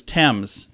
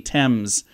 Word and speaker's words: Thames: Yosemite uh the Thames river in England is Thames t-e-m-z Thames cans in France is the most mispronounced it's actually Canna Cana not you don't